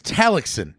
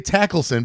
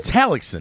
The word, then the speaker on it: Tallackson: It's Tallackson. Correct. I always say Tackleson because I'm an idiot. No, but it's Tallackson.